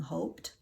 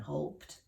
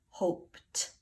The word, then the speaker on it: hoped: little consonants e oh I mustn't forget the et sounds like a T that time hoped okay so we're going